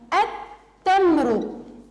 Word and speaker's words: التمر: إذا دخلت للتعريف تصبح التمر، التمر. أيضا ماذا لاحظنا يا صغاري؟ لاحظنا أن اللام في كلمة التمر لم تلفظ، نحن فقط وكأننا قرأنا ألف تاء، اللام لم تلفظ.